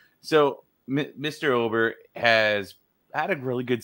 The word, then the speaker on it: Ober: let's move on here let's talk about Bailey Ober is how as I believe how I say